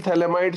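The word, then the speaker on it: phthalimide: Gabriel थैलेमाइड synthesis. थैलेमाइड में P silent है, ध्यान देना.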